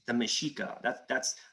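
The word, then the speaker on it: Mexica: no it's it's the meshika that's that's like if someone is really well read they'll they'll explain mexico or mexico usually x is pronounced like an sh um but again stuff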